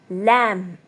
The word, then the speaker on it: lamb: Lamb. Not lamb. Lamb. B is silent.